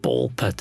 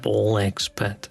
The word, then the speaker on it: Ball x Pit: The X's on not to be pronounced out loud, like Hunter x Hunter. So it's just ball pit and not ball X pit, and it's just Boneyard. It's not Bone X yard.